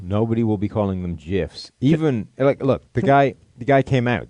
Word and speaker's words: GIF: you're all wrong it's it's pronounced jiff but no no no thank